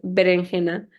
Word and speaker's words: berenjena: Also, I realized it's berenjena. So I said it wrong in Spanish.